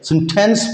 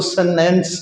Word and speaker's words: sentence: हिस्सा रही है कि सेंटेंस ब्रिटिशर इसको बरतानिया वाले सेंटेंस पढ़ते हैं, अपना अमेरिका और कैनेडियन ये टी जो है इसको साइलेंट कर देते हैं, वो इसको सेनेंस कहते हैं।